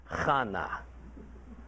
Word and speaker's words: Hannah: Now, verse 2 explains that this man Elkanah had two wives, Peninnah and Hannah, pronounced not like Hannah, but like Chana.